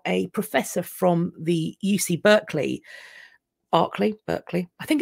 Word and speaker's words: Berkeley: of California uh berkship Berkeley California okay because I think we call it we'd call it we'd pronounce that as Barclay um or barkshire so this is Berkeley for you Berkeley the he